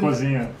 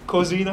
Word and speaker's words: cozinha: Cozinha. Cozinha? Cozinha. Cozinha. Yeah, very careful when you say this word because it's very close to a very dead okay, word.